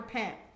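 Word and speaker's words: Pym: Pimp.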